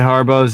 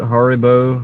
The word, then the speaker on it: Haribo: You don't like the Harbos either? Yeah, they're really They're very tough. The Harbo Haribo.